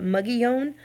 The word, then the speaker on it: Mogollon: Okay, so New Mexicans call it Mugillon, but it's spelled in Spanish, Mogollon.